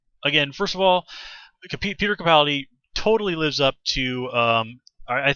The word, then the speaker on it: Capaldi: I've confirmed that is how you're supposed to say it, is Capaldi.